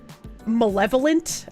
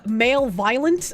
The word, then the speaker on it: malevolent: I encountered the word malevolent uh first in I think Final Fantasy 7 and I had pronounced it male violent for quite a while and I guess